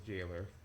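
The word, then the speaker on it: gaoler: Yes, even though it is spelled quite a bit differently, it does, that is jailer key. It is pronounced as you would think it would be, as jailer.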